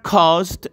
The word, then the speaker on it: caused: atención en la palabra cost nosotros no vamos a pronunciar la e no es así no se pronuncia la e simplemente desaparece el sonido y se queda en